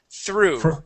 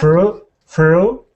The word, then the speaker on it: through: This word here is through. Try that. Through the. Good. So the GH here in both of the words are silent.